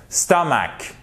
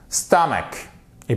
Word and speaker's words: stomach: Vous l'avez compris, ça nous donne stomach. Stomach. Stomach. Et pas stomache ou stomache, non.